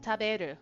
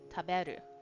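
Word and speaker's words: 食べる: Okay. Uh, tabu, right? So that means eat or to eat. Taberu. I know that one. Taberu. Yes.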